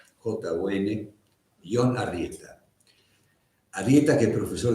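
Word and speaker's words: Jon: Yo le pregunté a un vasco que no se pronunciaba esto, se pronuncia Ion, J-O-N, Ion Arrieta.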